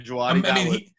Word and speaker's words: Djawadi: Shout out, how do you pronounce his name? Duwaldi? Ramin Djawadi, yeah. Ramin Djawadi.